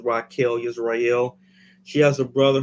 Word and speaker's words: Rachel: Rachel but it's pronounced Rael so it's spelled Rachel but she pronounces Rael Israel she has a